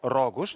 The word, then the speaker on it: Рогош: Правилно казваме ударението, защото мисля, че някъде има и с ударение на първото Рогош, но вашето е Рогош.